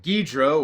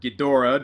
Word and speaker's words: Ghidorah: adds mothra rodin and guidro or ghidorah depending on how you want to pronounce it and when they first